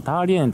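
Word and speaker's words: 大连: ですね、確かターリエンとかそういう風に、中国語では発音するらしいですけれ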